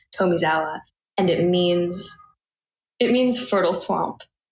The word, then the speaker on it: Tomizawa: I said your name wrong, and it's Tomizawa. It is Tomizawa. The toe, I would have never gotten it right if you didn't do the toe.